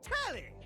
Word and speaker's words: Telly: The name's Telly. Rhymes with Nelly. Like, whoa, Nelly!